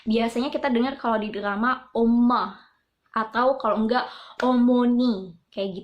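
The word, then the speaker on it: 엄마: omoni kayak gitu kan Nah pengucapannya itu bukan oma-oma itu kalau kita di sini Om Avita gitu kan Tapi kalau di Korea ada penekanan dm-nya jadi kayak om-om kayak gitu nanti aku bakal yatim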